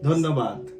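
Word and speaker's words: ধন্যবাদ: Dhanyabad.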